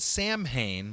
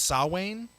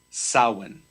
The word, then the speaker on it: Samhain: of her in October so I I've always pronounced it Samhain but you're saying it's saw Wayne it's a in the old Celtic it's pronounced saw one solid yes didn't you do a video on